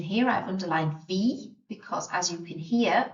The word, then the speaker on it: wie: So W in German sounds like a V sound. The combination of letters I and E sound like an E sound. I always say a tip for remembering this is to pronounce the second letter of the combination. So if you see I-E, pronounce the E. So wie.